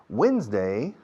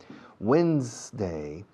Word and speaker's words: Wednesday: Wednesday, Wednesday, Wednesday, Wednesday. Fijaos en la pronunciación. Wednesday, wins.